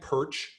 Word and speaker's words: Pyrcz: seen my name remember just say it like perch that's good enough my family spent 100